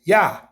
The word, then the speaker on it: Yah: That's not how you say the name. He tells you how to say his name, okay? Psalm 68:4. It's just Yah.